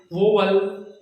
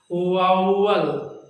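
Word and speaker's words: vowel: इसका साउंड है, मैं बोलूं आप देखिए जज करें, वोवल, वावल, वावल, वोवल, वावल, वावल। इसका राइट प्रोनाउंसिएशन है वाउवल, वाउवल।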